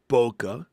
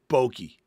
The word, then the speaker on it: bokeh: It's pronounced bokeh.